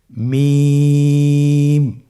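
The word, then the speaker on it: ميم: মিম হরফটি উচ্চারণের ক্ষেত্রে অবশ্যই বারিক হবে, পাতলা হবে এবং 3 আলিফ টেনে উচ্চারণ করতে হবে। আমার সাথে আরেকবার চেষ্টা করুন। মিম।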